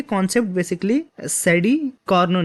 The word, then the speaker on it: Carnot: जो इसका प्रोनाउंसिएशन है वो है कॉर्नो।